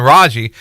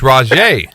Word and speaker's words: Raji: say his name because coach houston is still messing up calling raji but it's rajie and it's it's yeah